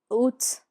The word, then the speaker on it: août: August, août. It's a bit like tooth.